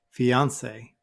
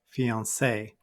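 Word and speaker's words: fiancé: the word fiance now notice that I put the stress on the second syllable this time fiance but you will hear some people put it at the end fiance now what does fiance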